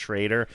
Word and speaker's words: Schroeder: Okay, so in 1990 you just had I guess it's pronounced Schrader. It's spelled like Schroeder, but it was pronounced Shrader.